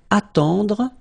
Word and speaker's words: attendre: Then, attendre. Attendre. Remember, final you don't insist on it, it just gives you the possibility to pronounce the dr, dr.